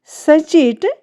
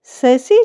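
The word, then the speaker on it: sachet: सचेट ये रॉन्ग है। ससे जो है वो हमारा राइट प्रोनंसिएशन है। क्योंकि इसमें टी जो हमारी है वो साइलेंट है।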